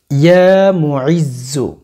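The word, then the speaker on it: يا مُعِزّ: আল্লাহ পাক রব্বুল আলামিনের একটু গুণবাচক নাম 2-1বার সহি শুদ্ধভাবে উচ্চারণ করেন, নামটি সহি শুদ্ধভাবে শিখতে হবে। আল্লাহ পাক রব্বুল আলামিনের গুণবাচক নামটি হচ্ছে ইয়া মুইজ্জু, ইয়া মুইজ্জু, খেয়াল করেন, ইয়া মুইজ্জু, ইয়া মুইজ্জু, ইয়া মুইজ্জু, ইয়া মুইজ্জু।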